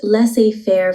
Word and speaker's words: laissez-faire: It's pronounced laissez-faire philosophy, and in this context,